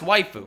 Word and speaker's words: Waifu: by the name of waifu yfu pronounced waifu and every other commentator that freaking talked about this couldn't pronounce it as waifu which is hilarious now